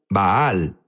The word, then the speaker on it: Baal: Jesús habló sobre bal unos dicen bal baal es la pronunciación correcta correcto pero sabes qué